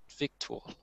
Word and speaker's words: victual: We say actual, but victual. Refer does not rhyme with defer.